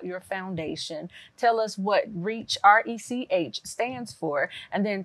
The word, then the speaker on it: RECH: community hope foundation okay we use the acronym it's pronounced reach it's not a a